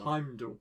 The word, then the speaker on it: Heimdall: Heimdall.